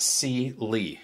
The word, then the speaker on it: CyeLee: Lee is per is spelled c-y-e-li but it's pronounced C Lee and I know that for a fact because